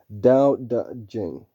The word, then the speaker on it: Tao Te Ching: Pronounce Dao as in Tao, as in Dao, D-A-D-O-W. Pronounce Te as in D, D-U-H. And pronounce Ching as if it were the first syllable of Jingor. So that's Dao Da Jing.